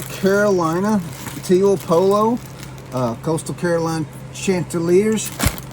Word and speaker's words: Chanticleers: Coastal Carolina Chanticleers. Chanticleers.